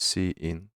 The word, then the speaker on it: cin: the standard input string pronounced c in our character input the second operator operand